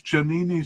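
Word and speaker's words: Djaniny: uh was janini uh that is janini spelled with a d by the way in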